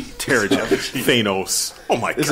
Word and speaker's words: Terrigen: Soft G. Terrigen.